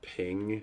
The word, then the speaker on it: PNG: It's pronounced ping. I'm not saying it is ping. I say PNG.